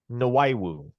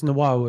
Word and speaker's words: Nahu: say that correctly play it's nahu nahu okay sure there we go and there it is drum with the with the pronunciation for for the first time ever and only because the source told me how to pronounce it nahu okay now I and